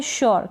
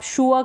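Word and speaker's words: sure: यह है श्योर। क्या है? श्योर। आप शूअर करके पढ़ देंगे। नहीं श्योर। थोड़ा सा आप प्रोनाउंसिएशन पे ध्यान जरूर दें।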